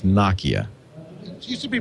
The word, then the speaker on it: Nokia: it's pronounced noia Steve balber has confirmed it's Nakia it used to be pronouncing it yet a Third Way heard before